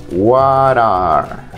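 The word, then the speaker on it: what are: que estás haciendo y estas dos palabras en conjunto se pronuncian wara wara wara yo en qué estás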